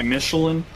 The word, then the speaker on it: Michelin: He's actually rated by Michelin.